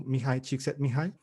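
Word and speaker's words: Mihaly Csikszentmihalyi: Y ellos toman sus principios de esta persona que nunca sé cómo escribir su nombre, pero aprendí a pronunciarlo, Mihai Csikszentmihalyi.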